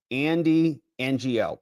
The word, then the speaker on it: Andy Ngo: It says the G is silent. Okay, so pronounce it like this. Andy NGO.